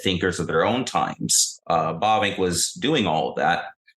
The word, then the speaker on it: Bavinck: So in a lot of ways, Bavinck for us, we never would have professed and do not profess being, and you say it right, actually, Bavinck.